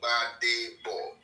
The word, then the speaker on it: Gbadebo: My name is Gbadebo. Badebo. Just 3 syllables. Badebo. 3 syllables there. Badebo. Badebo. It means, meaning, bring back the crown. Yes. Bring back the crown. The G is silent.